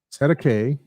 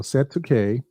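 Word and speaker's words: cestui que: It says here pronounced set a K. So set to K, common term in New Zealand and Australia.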